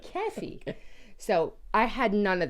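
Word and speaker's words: κέφι: of that geffy geffy k e fi geffy pronounce g but it's K just to let you know key yeah key not geffy keffy so I had none of that no keffy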